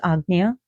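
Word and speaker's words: Ajna: So, if you go between your eyebrows, that's your agna, your third eye, which is spelled aja, but it's pronounced agna.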